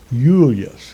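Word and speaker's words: Iulius: And it was pronounced Julius because the I was pronounced as a Y.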